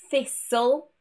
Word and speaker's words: thistle: Generally, words ending in S-T-L-E will have a silent T. For example, castle, thistle, and whistle.